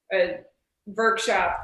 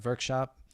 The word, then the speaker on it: VVrkshop: Is there a personal one or the VVrkshop website? VVrkshop.art. So just so everybody knows how that's spelled, it's a little tricky. It's VV. So the V's form a W, VVrkshop.art.